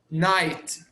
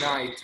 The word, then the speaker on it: night: near Night. The GH is silent. Night.